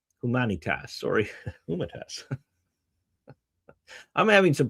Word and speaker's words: Humanitas: Paragraph 25 of Magnifica Humana Tas. Humanitas, sorry. Humanitas. I'm having some pronunciation issues today.